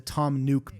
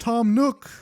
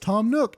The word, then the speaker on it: Tom Nook: yeah just a classic call back to the Tom nuke bit where essentially I I put out the Y Elm Crossings fun video and everyone's like his name's pronounced Tom Nook his name's pronounced Tom Nook and again this is like classic hypercharge [